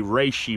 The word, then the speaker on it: reishi: For the last few months, we have been working on a reishi mushroom. That's how you pronounce it.